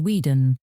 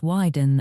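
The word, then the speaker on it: Wieden: Hugh now knows it is not pronounced Weeden, but Widen and Kennedy.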